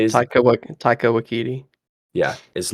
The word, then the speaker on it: Taika Waititi: And to keep Taika Wak how do you say his Taika Waititi, yeah is not gonna be directing it.